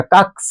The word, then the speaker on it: कक्ष: इसको हम लोग क्या पढ़ते हैं? अक्ष पढ़ते लेकिन अक्ष नहीं पढ़ा जाएगा। व्याकरण शुद्धशुद्ध हमें पढ़ने उच्चारण करना सिखाता है। इसको क्या पढ़ा जाएगा? कक्ष क्या पढ़ा जाएगा? उसको इसको कक्ष।